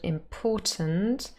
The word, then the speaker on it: important: So we have import and then tint. And so three syllables, and it really happens in the last syllable. So there's a little schwa here, but sometimes we drop that and then we have a syllabic consonant. The N becomes the syllabic consonant, really, followed by T.